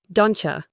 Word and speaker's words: don't you: Don't you becomes dona.